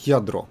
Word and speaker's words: Lladró: Льядро. О, как красиво. Цена составляет 40 долларов. Испанская компания Lladró произносится как « Я-дро».